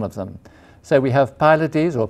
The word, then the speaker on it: Pylades: So we have Pylades, or Pylades, how do you pronounce him? We're saying Pylades, but you Pylades can say Pylades, like.